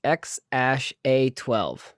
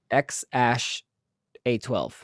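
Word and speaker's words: X Æ A-12: he says that apparent muscles the name is pronounced x-a-12 uh but it's it's x ash a12 yeah the a12 has to do something like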